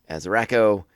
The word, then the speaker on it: Rako: But I like this bit here as Rako and Moralo.